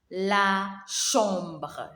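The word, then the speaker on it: chambre: we have the bedroom the bedroom is called la shomba la shomba remember ch we pronounce it as shu and then at the end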